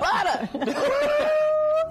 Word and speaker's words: Butta: We said it right. No ER. Butta. Butta.